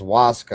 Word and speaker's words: ayahuasca: So the ayahuasca is pronounced Waska.